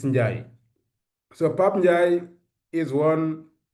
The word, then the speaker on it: Ndiaye: So Pap Ndiaye, that's the name we pronounce it here in the French system, but as the Senegalese, we don't pronounce it Ndiaye, it's Ndiaye.